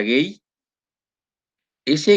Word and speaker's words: gauge: ya aquí vemos un gauge se pronuncia gay s gay tiene una cantidad de